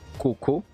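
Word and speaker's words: こうこう: Mais dans la prononciation, là, c'est Coco. Coco. Le O est plus long.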